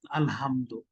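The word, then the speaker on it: الحمد: তারপরে হা এর উচ্চারণটা বলতে হবে হা, আলহামদু, আলহামদু, হা, নামাজ বাতিল।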